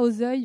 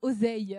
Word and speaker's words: Auzeil: Alors je rectifie, on dit pas Auzeuil, on dit Oseille.